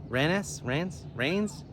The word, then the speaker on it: Rennes: The other town's called Rennes. R-E N-N-E-S, Rains. I think the French call it rain.